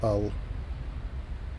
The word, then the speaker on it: Hull: Yeah, Liam's from Hull. Hull, but they don't pronounce the H's in Hull.